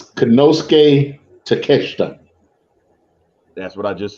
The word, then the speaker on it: Konosuke Takeshita: So if you want to clarify the pronunciation of all that Japanese, you're more than welcome to. It's Konosuke Takeshita.